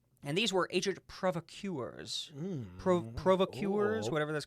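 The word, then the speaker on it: provocateurs: with the Nazis and these were ancient provocuers provocuers whatever that's called yeah yeah you said it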